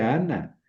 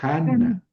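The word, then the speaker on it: Ἅννα: No dice Ana, dice Hana. Han entonces junta al espíritu con el acento y los pongo antes de la mayúscula.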